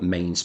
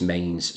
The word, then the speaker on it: Mesnes: at a place called Mains Park, which is in Woolly Willow's and that is Mains spelt m e s n e s. Mesnes is how it's spelt, but it is pronounced Mains.